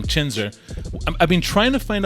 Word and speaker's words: Chhinzer: So Chhinzer is how we pronounce it. That's how I've only known it. But he said if you pronounce it, Okay. Punjabi, Yes. it kind of gets translated back to wrestler.